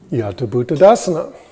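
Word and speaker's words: yathābhūtadassana: And this word is Yata Bhuttadasana. Remember, THs in Pali don't sound like it's just pronounce it like a T for now.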